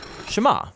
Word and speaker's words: Shema: is hear or listen which in Hebrew is pronounced shama that's where the prayer gets its name now